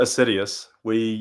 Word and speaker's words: Assiduous: We pronounce it Assiduous.